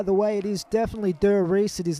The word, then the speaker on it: Der Riese: And just for those of you wondering how you pronounce Der Riese, by the way, it is definitely Der Riese. It is not Der Riese.